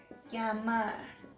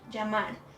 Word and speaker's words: llamar: But exception, in Argentina, so it's part of Latin America, but they pronounce it like llamar. Well, to be honest, I'm not sure about this one, but yeah, maybe sometimes, right? So yema, llamar, llámame, ya basta. Yeah, I think they also pronounce it like sh.